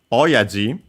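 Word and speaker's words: 親父: So yeah, oaji uh is a term for father uh compound technically from oa which means parent in general uh accent on the last mora.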